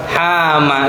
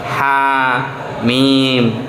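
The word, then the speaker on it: حم: lalu itu ada yang masih membaca saya kaget itu hama loh Hama apa mas setelah itu dia menyodorkan Oh ini terus ya karena belum tahu mungkin ya maka tugasnya untuk ngasih tahu ini bacanya sesuai kita kalau Belajar mengucapkan huruf hijaiah Mas Ha mim Oh seperti itu I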